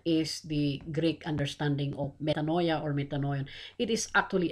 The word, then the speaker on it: metanoia: But actually, the correct pronunciation is metanoia.